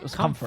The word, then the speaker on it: Comfort: It seems like with the guy we were calling Comart, the carry for Felt is Comfort, which makes much more sense.